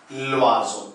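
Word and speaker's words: l'oiseau: अब इसको हम कैसे प्रोनाउंस करेंगे, ल्वाजो।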